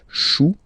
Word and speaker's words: chou: Then, un chou, okay, remember, when you combine this C and H, you get the sound sh. Chou, un chou, pluriel, des choux.